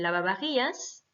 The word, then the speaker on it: lavavajillas: dire le lave-vaisselle, el lavavajillas. Donc, il y a à chaque fois VA, VA. Hein, attention, le V se prononce B, donc el lavavajillas.